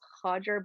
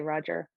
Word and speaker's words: Roger: you're in i guess in brazil i believe it's pronounced hodger because of the first letter in portuguese it's pronounced um for for people and maybe um in england that struggle to pronounce it it's easier to just say roger i i never really